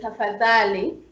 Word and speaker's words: tafadhali: Yeah, and then we have a combined consonant DH, which makes sound the, like in Swahili word tafadhali, or dhahabu. Tafadhali means please, and dhahabu is gold. Like English word mother, TH. It makes same sound in English like TH. But it's a very, very soft TH.